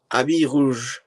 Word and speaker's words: Habit Rouge: So now we are doing Habit Rouge. Oh, I know it's exactly as I'm pronouncing it because I'm very confident in my French pronunciation.